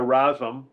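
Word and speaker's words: Razom: give a sh yes I admire I admire rasm which is spelled r a z o m they're in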